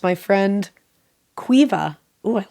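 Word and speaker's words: Caoimhe: whil it's my friend Quiva oh I like that isn't that a pretty name the way that's spelled it's c a o i m h e but pronounced Quiva it's like sioban how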